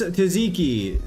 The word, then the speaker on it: tzatziki: It's pronounced tzatziki. Say jazz without the Z.